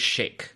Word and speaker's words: sheikh: uprising by a Kurdish sheikh, or I think for our audience, sheik. Sometimes you'll hear it pronounced, I guess, that way here in the West.